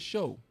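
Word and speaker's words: Shough: His name is show but it's spelled S H O U G H.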